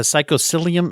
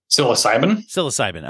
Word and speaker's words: psilocybin: It's a psychosilium. How do you say that? Psilocybin.